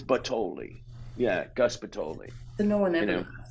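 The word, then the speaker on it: Butthole: is um it's it's spelled b-u-t-t-h-o-l-e but it's pronounced pitoli it's gus it's well it's kind of italian gus but totally b-u-t-t-h-o-l-e it's yeah it's it's batoli yeah gaspitoli the one that you know what's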